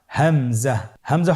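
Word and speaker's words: همزة: পরবর্তী হরফটির নাম হামজা। হামজা হরফটি উচ্চারণের ক্ষেত্রে বারিক করে উচ্চারণ করতে হবে এবং এখানে টেনে পড়া যাবে না।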